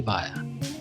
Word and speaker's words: Via: name which is pronounced via it's not pronounced via yeah it's uh my like high school ap world history teacher was like oh like via con dios and so that's another